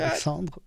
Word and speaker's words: Alexandre: Der war beliebt in der Schule bei seiner Französischlehrerin, weil er seinen Namen im Französischunterricht immer französisch ausgesprochen Alexandre.